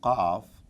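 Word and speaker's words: قاف: There is this special sound coming from inside the throat for Qaf, which is not exactly what is needed in this case.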